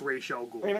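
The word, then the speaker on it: Ra's al Ghul: the Spider-Man cartoon yeah that flashback episode or rachal ghoul is telling the story and yes it's pronounced Rael G bite me stop Spider-Man yeah the Spider-Man cartoon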